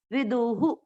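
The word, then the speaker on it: विदुः: विसर्ग का उच्चारण उसके पिछले अक्षर की मात्रा पर डिपेंड करता है। यहाँ पर विदु यानी उ की मात्रा है तो विसर्ग को पढ़ेंगे हु, विदुहु।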